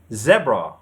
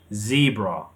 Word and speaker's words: zebra: In British English, we say zebra, zebra. The stress is on the first syllable. But in American English, they say zebra, zebra. The stress is on the second syllable. E, zebra. Zebra, and we have zebra.